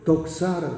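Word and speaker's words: δόξα: 헬라 말에는 영광을 독사라고 합니다. 발음은 아주 기분 나쁘죠. 독사, 뱀 같은데 사실은 독사라는 말은 뭐냐?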